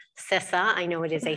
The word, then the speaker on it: CISA: first off thank you for pronouncing it correctly cesa i know it is a hotly debated topic but it is in fact sissa uh so what are we as you said